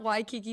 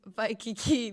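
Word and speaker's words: Waikiki: not Honolulu it's Honolulu it's not Why Kiki Beach it's VI Kiki Beach this has been Skylar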